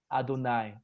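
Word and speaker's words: יהוה: And we are going to pronounce it Adonai.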